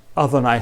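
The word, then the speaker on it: אדני: el día de hoy dejan sin pronunciar el nombre y en su lugar pronuncian las palabras mi señor y si un texto bíblico como típicamente en ezequiel pone expresamente el señor ya ve esto se pronuncia adonay jasen es decir mi señor el nombre o a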